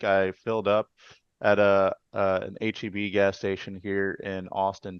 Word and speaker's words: HEB: Yeah, so before we get to that question, is that how it's pronounced? HEB? I thought it was Heb.